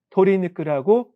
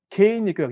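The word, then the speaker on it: 鶏肉: 그다음에 개육기인데 토리니크라고 전부 다 어 뜻을 읽어야 됩니다. 개니크라고 읽지 않습니다. 토리니크가 있는게 일반적이고 그니까 닭고기 돼지고기 도육인데 도니크라 있습니다.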